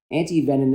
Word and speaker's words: antivenin: antivenin, antivenin, antivenom. What's the proper way to say that? So 2 of them are acceptable. Antivenin is what was originally used because it was derived from the French.